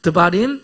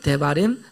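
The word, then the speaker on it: דברים: 데바림.이 아멘.이 대바림이기도 하고 또 발음상 드림 이라기도 하는데 드바림 대바림 다 같은 뜻인데요.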